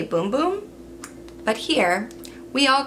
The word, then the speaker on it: Bum Bum: a brazilian company so even though it's b-u-m-b-u-m in brazil i guess they say boom boom but here we all